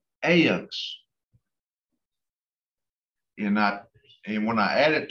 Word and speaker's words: ivnks: And you're going to add the IVNKS, which is once again pronounced AYUNX. AYUNX.